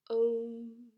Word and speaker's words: oṁ: flat lift lipped but is pronounced by protruding the lips forward as though you're holding a pencil and in addition to